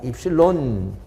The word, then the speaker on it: 입실론: 유전율 입실론 유전율이라고 하고 읽기를 입실론이라고 읽어요 입실론 이 유전율 곱하기 어떻게